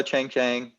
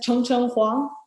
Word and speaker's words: Chang: so yeah uh hello Chang Chang hi was that was that the correct pronunciation of your name yeah it's chong chong yeah chong chong hang got